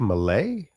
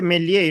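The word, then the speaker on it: Melli: Did he say Bank Malay? I thought he said Bank Malay. And Yeah, it's the mispronunciation. so what is it supposed to be? Armin? Is that Banque Milli Iran?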